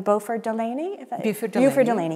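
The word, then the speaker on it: Beauford Delaney: one of your references you cite, I want to get his name in here, am I pronouncing it correctly? Buford Delaney.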